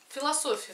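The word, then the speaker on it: Philosophy: А цветы философия. Да, что написано? Филосо п и читается как ф. Философия. Философия. Я, значит, правильно прочитала.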